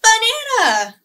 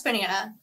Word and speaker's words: banana: with banana guess what there are multiple ways you can pronounce banana some of us might say it like banana but depending on where you live you might say it like banana which is really exciting for two reasons one it sounds extra fancy but two when you pronounce it like banana it rhymes with something else can you guess what